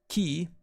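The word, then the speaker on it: 木: it this way now the kun reading is key which among other things can also mean spirit or energy but it also represents three of wood a good way to remember ki-43 is by associating it with clean air because trees are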